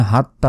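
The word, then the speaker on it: حتى: বলি এটা ভুল এখানে হাত্তা নয় এখানে ছোট হা নাই বড় হা বড় হার উচ্চারণ আলাদা যেটি বাংলায় লেখা সম্ভব নয় এটার উচ্চারণ হচ্ছে হা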